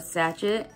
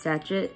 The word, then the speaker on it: sachet: The other day, I actually learned that a little bag is called a sachet. And then I learned that it's not even pronounced sachet. It's pronounced like sachet.